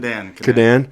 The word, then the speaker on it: Kaadan: we have the owner of FX Supplements here, Kaadan. Is that how you say it? Kaadan.